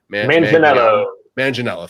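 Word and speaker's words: Manganiello: with the deathstroke joe min i can never pronounce his last name joe manginella thank you thank you uh he's such a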